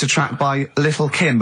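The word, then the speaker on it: Lil' Kim: Now, Steve, I see there it's a track by Little Kim. How are you pronouncing it? I'm pronouncing that correctly. Lil Kim.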